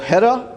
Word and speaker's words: Gera: So Gera, or Hera, if you pronounce it right, does stuff at core.